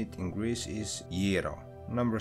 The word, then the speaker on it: gyro: popular across the world including in the u.s gira is one of the most consistently mispronounced foods on the planet it is a